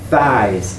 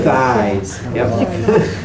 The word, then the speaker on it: thighs: take this eyes the GH silent the th thighs High thighs the thighs 28.